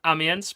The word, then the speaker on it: Amiens: Guildford Flames are going to be going up against Gothiques de Amiens. Is that how you say it? Amiens, but close.